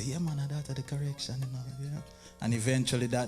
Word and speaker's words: Korexsion: They have to make a correction to get correction. Korexsion.